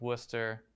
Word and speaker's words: Worcester: lives in massachusetts um i know that it's pronounced worcester and i know that it's pronounced haverhill and